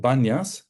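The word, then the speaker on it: Banias: why is it called Banas because in Arabic there is no letter P they can't pronounce panas they pronounce Banas and that's what we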